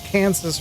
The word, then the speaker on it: Kansas: Arkansas and Kansas are both named after the Katsson Native American tribe. French named the former, so the S is silent. English named the latter, so the S is not silent.